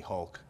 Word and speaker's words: Hulk: for my power but in Portuguese H is R so it's spelled with R so a lot of the people that speak Portuguese in Portuguese we'll call me Hulk but everyone else is